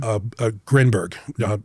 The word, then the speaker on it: Grinberg: Grinberg. It's Grinberg Zilberbaum, but it's Jacobo Jacobo Grinberg. Jacobo. Okay. Jacobo Grinberg. Yeah, we'd pronounce it that way.